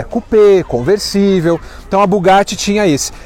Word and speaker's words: Bugatti: E aqui do lado, pessoal, tem um Bugatti, ou Bugatti, que é a pronúncia certa.